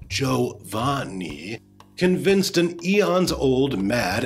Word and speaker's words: Giovanni: lesson you uninformed noob the giovanni that's pronounced joe van nie convinced an eon's old